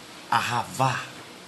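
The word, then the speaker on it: אהבה: Amor, em hebraico, ele se pronuncia ahavá, ravan, que quer dizer dar, doar.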